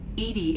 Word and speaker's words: EDI: why are you named edie edie is the phonetic pronunciation of edi that is an acronym for enhanced defense intelligence where are you my